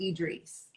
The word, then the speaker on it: Idris: Because everyone's like Idris or Idris. I'm like, it's Idris. Like, The I's are pronounced like E's.